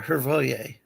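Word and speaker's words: Hrvoje: Yeah, Hervoye. That's correct.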